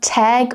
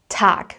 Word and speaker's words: Tag: So, this is a general rule for German phonetics will be pronounced as a k sound. T. Yeah. So I don't say tag, but tac.